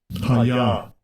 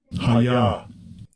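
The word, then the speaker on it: הָיָה: Hayah. Hayah. So anyway, there's the pronunciation of the dictionary form, not the pronunciation of the form in situ, which is Ehyeh.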